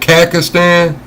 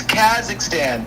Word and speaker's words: Kazakhstan: Kakistan. Yes. Pakistan. How I spell that?